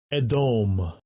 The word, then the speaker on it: Edom: A lot of people say Edom. I say Edom sometimes. Sometimes I say Edom. If we want to be proper, let's look at the Hebrew pronunciation. Strongs H1 123. Edom.